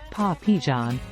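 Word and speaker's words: pois pigeons: French for dried peas and pronounced paw Pon which may have sounded like Po and John to English speakers some correlate the blackeyed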